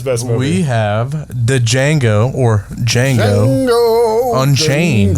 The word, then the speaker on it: Django: We have the Django Unchained. The D is silent. Yippee D is indeed silent.